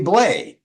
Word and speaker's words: Bley: And finally, 2023, jazz pianist Carly Bley, or you could pronounce it Bly.